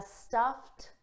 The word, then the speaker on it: stuffed: Listen to the pronunciation. I have a stuffed. T-t. Ends on a T.